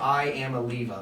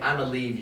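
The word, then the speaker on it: Iamaleava: His name is literally spelled like I'mma leave you. I'mma leave.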